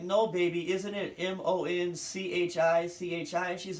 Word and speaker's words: Monchichi: I'm like, it's not difficult to pronounce. M-O-N-C-H-I-C-H-I.